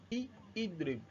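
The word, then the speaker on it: اِضْرِبْ: Definitely in the amur we are going to pronounce the amur as what? Idrib. The alif wasli as idrib.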